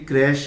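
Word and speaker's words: crèche: पहला शब्द ध्यान दीजिए कुछ लोग से होने के कारण इसे क्रेक का देते हैं यह गलत है यह क्रेक उच्चारण कहलाता है इसका सही उच्चारण बेसिकली क्रैश ही होता है ठीक है जहां पर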